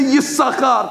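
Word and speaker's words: יששכר: Therefore, we don't pronounce it because he gave it away. Therefore, we say Yisachar, because technically he only has one sheen left in his name, because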